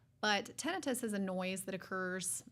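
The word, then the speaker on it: tinnitus: in the ears or is it tenus or tenius how do you say it so in ENT we typically say tenus tenus well let's say it properly then tenus um I I don't think that there's technically really a wrong way to say it but okay tenus is how we typically say in ENT but tenus is a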